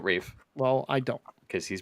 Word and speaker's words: Ralph: rough it's it's Reef it literally says r-a-l-p-h yeah he pronounces it Rave well I don't because